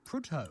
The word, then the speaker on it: Prudhoe: Ethan is calling from Prudhoe. Have I pronounced that right, Ethan? In Northumberland. It's pronounced Prudder. So Prudder. Close enough.